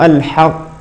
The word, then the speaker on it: الحق: تقلقل هي التي تقلقل اي ان القاف الثانيه المتحركه هي التي عندها يتباعد نطقي المخرج فتخرج القاف مق قله بالتباعد كما بينت في المره السابقه فنقول الحق الحق الحق الحق الحق الحق هكذا كذلك في قول الله